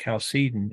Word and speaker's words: Chalcedon: And the Council of Chalcedon, sometimes pronounced Chalcedon, in 451.